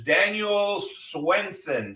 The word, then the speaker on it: Daniel Swenson: way from Michigan very good Our Guest is Daniel Swenson did I pronounce it right yes you did very good